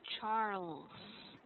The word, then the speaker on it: Charles: What I'd like you to practice here would be the letter L because the letter L was not pronounced clearly. Mm-hmm. So it should be Charles.